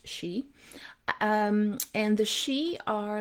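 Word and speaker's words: sidhe: is one of the she s-i-d-h-e pronounced she um and the she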